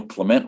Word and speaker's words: Clement: well i don't know clement rhymes with cement and you could just